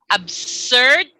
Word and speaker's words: absurd: Pronunciation-nya, the pronunciation is actually dua. Jadi bisa ngomong dua. Absurd, bisa juga absurd. Absurd. S pun atau Z bisa.